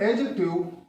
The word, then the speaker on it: adjective: Adjective, D is not pronounced.